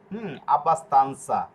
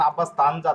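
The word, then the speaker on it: abbastanza: যেরকম আব্বাস এইযে দেখুন লাস্টে রয়েছে কি আনসা তাহলে এই যে আনসা আব্বাস তানসা এখানে যদি আপনি পড়েন আব্বাস তানজা তাহলে হবে না এই যে আমাদের এই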